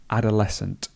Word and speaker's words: adolescent: So it's just the word adolescent. Adolescent. And did you notice here how this word becomes just the sound s? So the SC sound just becomes s in this case. So adolescent. Adolescent.